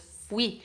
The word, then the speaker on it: fui: Cuidado, es fui. La parte fuerte es la I final y no la U.